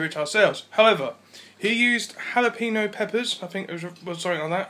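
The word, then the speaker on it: jalapeño: It's pronounced jalapeno.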